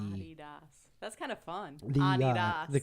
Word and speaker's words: Adidas: Did you know that Americans pronounce the uh apparel and shoe brand Adidas wrong? Okay. That's right. The old man's screaming right now. Uh supposed to be Adi Das.